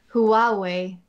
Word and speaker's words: Huawei: est la suivante emma huawei ouais ouais alors il ya une syllabe en plus en anglais en français